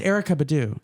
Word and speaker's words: Erykah Badu: It's Erykah Badu.